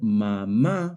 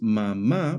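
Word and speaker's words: mamá: The word mama, however, also has stress on the last syllable mm, but it ends in a vowel. According to the Spanish stress rules, if a word ends in a vowel n or s, the stress should fall on the second to last syllable.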